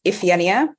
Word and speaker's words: Iphigenia: So it's pronounced Iphigenia.